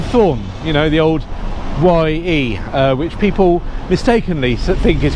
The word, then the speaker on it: ye: pronounced ye, but it's not the personal pronoun ye, as in you familiar plural, or you when talking to a member of the nobility. The letter sets that they imported from Belgium, Caxton and that lot, didn't have the thorn in their alphabet, so they just instead did a Y with a little sort of like thing on top, and that meant the. But it used to be